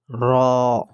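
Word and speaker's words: ر: our next letter is raw raw please read after me raw raw raw has a full sound raw has a full sound you will not pronounce the raw with thin sound let me show you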